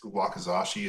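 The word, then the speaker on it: wakizashi: and uh i know he has his his wakazashi as well size-wise how do they compare did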